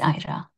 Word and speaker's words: IRAH: Ira thank you so is that the right pronunciation Ira Ira is the way it's pronounced yes I'll tell